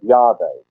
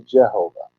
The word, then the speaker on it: Yahweh: course it does it when you take those valpo knees kind of force them into God's name have to change the bow point so it comes out in yellow by which slangs he slurs to Jehovah so the Jehovah's Witnesses